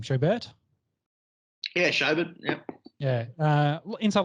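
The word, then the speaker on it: Schobert: joe how do you say his last name show bert yeah yeah yeah uh inside linebacker played for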